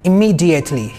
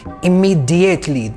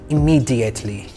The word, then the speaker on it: immediately: Immediately. Immediately. Pronounce it with d. Do not pronounce with j. Do not say immediately. Pronounce with d sound. Immediately.